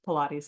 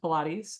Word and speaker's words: Pilates: his name is Joseph Pilates uh he was born in 1883 and he died in 1967 it's pronounced pilates not Pilates um it's a name of a Greek origin he is a German